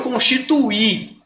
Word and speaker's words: constituí: Então, ele constitui e eu constituí. É diferente a pronúncia.